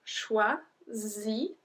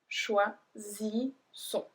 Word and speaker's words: choisissons: So here it's a bit different because there's one S which makes the sound Z, and then we have two S which make the sound S. So choisissons, choisissons.